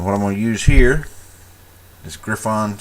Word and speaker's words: Griffon: to use here is Griffon sepia or Griffin sepia you know it's pronoun it look spelled like it's fine but it's probably Griffin anyway what I'm going to